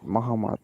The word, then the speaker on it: Muhammad: it so it is muhammad innocent yes so you have to assume one n is missing and one m is missing okay brim can you please try innocent muhammad no mohammed very good now second